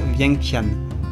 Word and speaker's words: Vientiane: Le nom se prononce Vientiane.